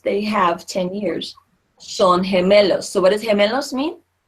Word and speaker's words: gemelos: Son gemelos. Son gemelos. Gemelos. Okay, gemelos. Remember, G followed by I or E says that rasping H sound.